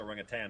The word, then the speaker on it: orangutan: There's no G at the end of orangutan. It's pronounced orangutan, not tang.